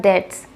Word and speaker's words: debts: its sites to cut debts. The company is selling off some of its sites to cut debts. And yes guys, it's debts, not debts. B is silent here.